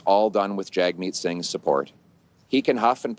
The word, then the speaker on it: Jagmeet Singh: name, because he said, think jug like hug.